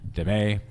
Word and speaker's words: Damet: Uh it looks like Damn it, but I believe it's pronounced Demay.